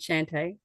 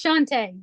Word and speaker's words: Shantae: Shante Shant, am I saying it correctly? Anyway, um if we don't have There we go. I got it. It is Shantae, but it's fine.